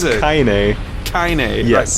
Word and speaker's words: Kaine: So Kane has been like Kanye. fighting this Kanye. It's been Kanye. I can never pronounce it. I just can't pronounce it Kanye and take it seriously. Is it? What It's is it? Kaine.